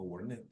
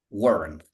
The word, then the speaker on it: warned: But remember, when it ends in any other consonant, we just omit the sound of E.